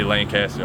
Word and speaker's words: Lancaster: I think people that are from the area say Laynecaster. I say Lancaster.